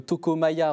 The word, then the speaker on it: Toko Maja: On rappelle le jeu Toko Maya, retrouvé sur le Ulule. Toko, T-O-K-O, Maya, M-A-J-A. Voilà, comme ça, c'est comme ça se prononce.